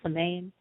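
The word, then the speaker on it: Samhain: were doing something for seain um on their Salon as some people pronounce it depending on who's talking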